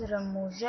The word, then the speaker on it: رموز: رموز اوقاف کا تلفظ۔ رموز اوقاف یعنی رموز کے نیچے زے، یعنی جو زے آ رہی ہے وہاں پر اس کے نیچے زیر کی علامت آئے گی۔ اس طرح سے اصل لفظ رموز اوقاف پڑھا جائے گا۔